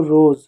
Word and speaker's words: rose: तो ज कब पढ़ेंगे, जब अंग्रेजी में बच्चों एस के बाद अगर ई आए, लास्ट में एस के बाद ई आए तो एस का उच्चारण बच्चों हम ज के रूप में करते हैं। जैसे मान लो मैं एक शब्द लिखूं ROSE, इसको क्या पढ़ते हो, इसको पढ़ते हो रोज।